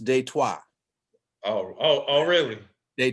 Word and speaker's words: Detroit: born and raised in detroit and for those for those of you in the know is pronounced de trois oh oh oh really